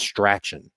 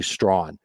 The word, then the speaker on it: Strachan: but it looks like his last name is pronounced stratchen but it's actually strong he looked pretty good in the preseason game